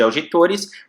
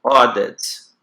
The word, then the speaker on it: audit: Esse AU aqui, ele tem o som de O. Então, aqui eu pronuncio audit. Audit. Auditor. Auditor, tá? Lembra que o som aqui é de O, audit, auditor, não audit nem auditor, audit, auditor, ok?